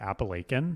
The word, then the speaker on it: Appalachian: they first of all where I come from we pronounce it appalachin you're joking right that's how you pronounce it it's the Appalachian Mountains that sounds fancy